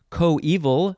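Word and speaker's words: coeval: accounts of the kidnapping co-evil spelled c-o-e-v-a-l i think that's how it's pronounced it refers usually to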